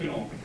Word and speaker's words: Knoll: Yeah, it's Knoll. It's Knoll. I know it looks like Knoll, but the K is pronounced.